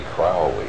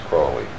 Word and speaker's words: Crowley: My name is Aleister Crowley, because that I am holy. My enemies say Crowley and wish to treat me foully. So now you'll never forget how to pronounce it. It's Crowley. Crowley.